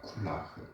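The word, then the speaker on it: כֻּלָּהּ: 여기 쿨라흐라는 쿨라흐라는이 두 단어가 이것은요 두 단어가 합쳐진 단어입니다. 플라 쿨라 쿨라 그래이 단어는요 전부 전체를 타는 콜이라는 단어와 3일친 여선 단추 대명사인 아흐라는 단어가 합쳐져서 만들어졌습니다.이 두 단 두 단어가 합쳐지면서 최종적으로 쿨라흐라는 발음이 되었습니다.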